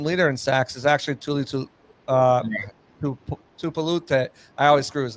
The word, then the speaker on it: Tuli Tuipulotu: Is actually Tuli Tuipulotu. I always screw his name up. Go ahead, say his name for me. Tuli Tuipulotu.